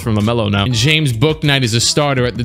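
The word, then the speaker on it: Bouknight: I think I called him Boo Knight in a lot of my, I mean, because you would think like the K is silent. I don't know, maybe you wouldn't.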